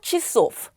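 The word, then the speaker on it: часов: 그래서 여기도 역시 차소프라고 읽는 것이 아니라 취소프라고 읽습니다. 뼈 취소프, 쉐스 취소프, CM 취소프, 워심 취소프.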